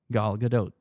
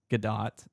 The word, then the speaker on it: Gal Gadot: And it's Galadote. It is not Gdat.